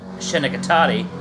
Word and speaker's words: Schenectady: play on my hometown shenikati aka schenectady uh i like that none of you pronounce it right that's the only recurring